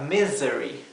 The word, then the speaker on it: misery: Fíjense que la palabra misery, la S no se pronuncia s, como la S suave del español, se pronuncia como la S zumbada.